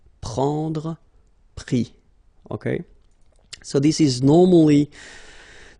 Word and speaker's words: pris: And then prendre, so e-n-d-r-e, will give is, pris, okay. Same thing here, you don't pronounce the final s, okay.